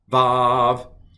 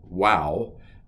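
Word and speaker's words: ו: Aleph, Bet, Gimel, Dalet, Hey, Vav. Used to be called Wow. So you still will hear some people pronounce it W and some people pronounce it V.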